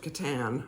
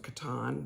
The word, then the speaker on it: Catan: bit so Settlers of Catan or Settlers of Catan depending on how you say it I think Katan seems to be the way most people say it just wondering where